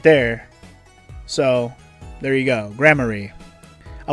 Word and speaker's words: Gramarye: Thank God it gave me a pronunciation. Gramarye.